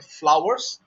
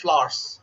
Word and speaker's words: flowers: Yep, and so at times people emphasize too much on a W. So we sometimes sometimes even I make the mistake of saying flowers, but it's just flowers.